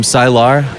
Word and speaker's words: Sylar: Yeah, so right, Jaden from Sylar. Is that the right pronunciation, right? Sylar.